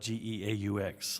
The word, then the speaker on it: geaux: want to say that we spell it geaux like go Tigers and uh so we